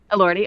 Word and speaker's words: Elordi: I really should look up Jacob pronunciations. Elordi. Elordi, okay.